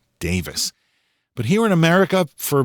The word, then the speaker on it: Davies: Now, I've heard that their last name should actually be pronounced Davis. But here in America, for literally decades, it's been pronounced Davies.